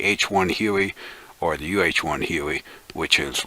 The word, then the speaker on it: Huey: In the old terms, it's the HU-1, and HU-1 is looked at as HUI, pronounced as Huey.